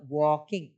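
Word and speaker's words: walk: यानी क्या होता है देखो इसको वलक नहीं पढ़ेंगे एल साइलेंट होता है इसमें लेकिन स्पेलिंग ये होती है डब्लू ए एल के वॉक वलक नहीं बोलना है वॉक यानी क्या होता है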